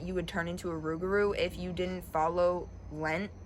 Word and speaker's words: rougarou: So instead of saying Loup-garou, they pronounced it Rougarou.